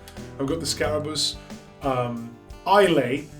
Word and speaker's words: Islay: got the scarabus um ilay not islay I learned the correct pronunciation uh from somebody uh